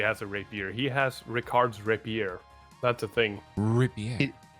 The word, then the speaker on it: Ricard: I always want to call him Ricardo. No, it's just Ricard.